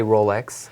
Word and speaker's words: Rolex: what what what's acceptable you could say Rolex obviously if Simon on that on that particular brand everything is pretty much acceptable you cannot mess up in the pronunciation of Horlicks but that's will be with the French accent the Americanized version for me would be more like Rolex or something like this but I mean I